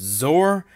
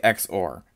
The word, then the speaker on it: XOR: here is called an xor gate xor can also be pronounced zor but i like xor xor stands for exclusive